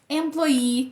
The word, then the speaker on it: employee: Employee, que tem dois S no final. Agree, que tem dois S no final.